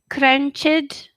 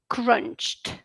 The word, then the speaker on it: crunched: Okay, so this is shopped, picked, wished, crunched. Okay? Once again, shopped, picked, wished, crunched. All voiceless sounds should be pronounced like t.